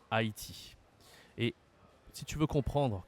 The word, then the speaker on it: Haïti: la prononciation est spéciale Haïti Haïti Haïti tu te demandes peut-être pourquoi on dit pas Hati et on dit Haïti et si tu veux